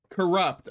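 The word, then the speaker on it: Cxrupt: Welcome in. How do you say your name? Corrupt.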